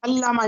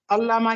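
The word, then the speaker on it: علامہ: मौलाना मोहम्मद अली जोहर बेटा य ल अल्लामा इकबाल होता है लामा नहीं अल्लामा इकबाल तो यह शर न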